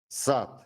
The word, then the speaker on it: сад: The hard T sound occurs at the end of a word or before voiceless consonants. For example, сад, подпись.